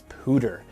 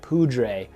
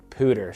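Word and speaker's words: Poudre: of people are like poodray the pudre and and maybe i'm pronouncing it maybe we're pronouncing it wrong here in four columns but the locals pronounce it pooter so if you're gonna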